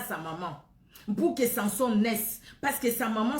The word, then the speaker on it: Samson: Ou Samson, ça dépend comment vous allez prononcer. Dans ma langue, c'est Samson, parce que moi je prononce tout, mais ici en France, c'est Samson. Bon, on prononce comme ici en France, Samson.